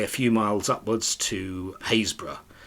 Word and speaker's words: Happurg: few miles upwards to hazb which is spelled happurg if you ever see it on on the map which has a spectacularly